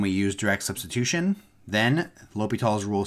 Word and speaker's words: L'Hôpital: um a function and that shortcut is called l'hopital's rule so you pronounce this l'hopital it's a he is a